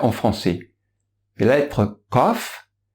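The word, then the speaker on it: ق: france est là être kof elle se prononce en essayant d'arrondir la bouche et en l'ouvrant en fait si vous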